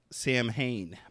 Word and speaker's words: Samhain: It looks like it's spelled like Sam Hain, but it's Okay.